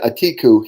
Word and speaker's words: Atiku: Atiku, he is one of the presidential candidates that's right.